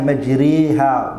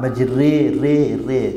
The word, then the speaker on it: مَجْرِيهَا: وَقَالَ ارْكَبُوا فِيهَا بِسْمِ اللَّهِ مَجْرِيهَا مَجْرِيهَا, that's Imala. That is called Imala. So you don't say as a fatha nor a kasra. It's a way in between.